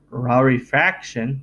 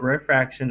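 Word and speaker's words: rarefaction: particles are close together and raw refraction that's how you say it's not refraction it's raw refraction um it's where they're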